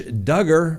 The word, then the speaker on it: Duggar: Josh Duggar rhymes with hugger.